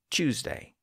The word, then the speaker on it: Tuesday: Today you'll hear many people pronounce the word Tuesday as Tuesday, and tune as tune. But those haven't quite reached the level of standard pronunciations.